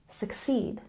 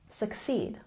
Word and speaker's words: succeed: syllable in unless unless and succeed we have a stress on the second syllable succeed succeed the vowel sound in the U is a bit soft succeed the next linking term